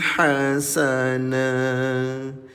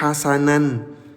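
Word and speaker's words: حَسَنًا: Alam ya'id rabbukum wa'dan hasana. Mengapa berhenti di sini dan membacanya dengan panjang dua harakat, saudaraku? Seharusnya tidak dibaca sebagai "hasanan". Nah, perhatikan baik-baik, Ayah dan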